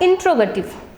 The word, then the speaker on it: interrogative: देखिए ये इंटेरोगेट word से बना है इसलिए इसको इंटेरोगेटिव वर्ड नहीं बोलेंगे. इसका प्रोनाउंसिएशन है इंट्रोगेटिव, राइट.